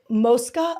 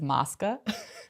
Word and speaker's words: Mosca: But wait, first, Moska or Moscow? So, the fan we say Moska. Um, most of the city says Moscow and the whole city says Moska.